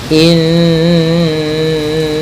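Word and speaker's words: إِنَّ: Pada bacaan inna di sini ada hukum tajwid yaitu gunnah, yaitu cara membacanya adalah kita menahan suara nunnya ya terlebih dahulu sepanjang 2 harakat lebih sedikit ya, kemudian baru kita baca janya.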